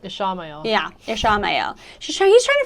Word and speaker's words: Ishamael: Ishamael.